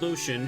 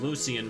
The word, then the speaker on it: Lucian: And then there's Lucian, who I thought his name was Lucian for the longest time, but you're supposed to pronounce it Lucian.